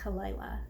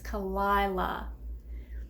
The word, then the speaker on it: Kalila: I think I was saying Kalila. She was like, it's Kalila.